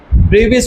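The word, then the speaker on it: Brevis: ब्रेविस को रखूंगा। Daewoo ब्रिस हैं। ब्रविस डेविड ब्रेविस हां जो भी हो ब्रेविस है। बी आर ई वी आई एस भाई साहब स्पेलिंग बोल दिया।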